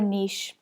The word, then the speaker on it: niche: What's your niche, or niche as Americans would say? So I know there's a few Americans here and Australians use pronounce niche, and we pronounce it as niche in Ireland and the UK.